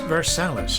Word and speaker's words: Versailles: Versailles, pronounced Versales in Spanish, had been recommended to us as a great Cuban restaurant.